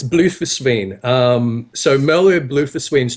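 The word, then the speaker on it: Bloefhiswyn: this name right MVB blusen really I just call her Mer bloww I don't know how to pronounce okay all right it's blue foren um so mer blue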